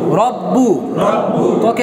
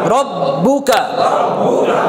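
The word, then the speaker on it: رَبُّكَ: তাহলে প্রথমবার তাসদিদটাকে আমরা বলছিলাম কি 2বার উচ্চারণ করতে হবে, প্রথমবার জজম দিয়ে, তাহলে রকে আকার দিয়ে র আর হচ্ছে ব রব, তারপরে বার মধ্যে কি আছে পেশ, তাহলে বকে রস্যকার দিয়ে বু, রব্বু রব্বু রব্বু, ককে আকার দিয়ে কা, তাহলে উচ্চারণ রব্বুকা রব্বুকা।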